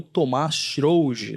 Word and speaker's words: Thomaz Srougi: O convidado de hoje nosso é o Tomás Schrouge, né? Talvez acertei a pronúncia?